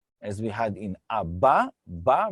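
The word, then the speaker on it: אבא: Here it's letter Aleph. It is a silent letter.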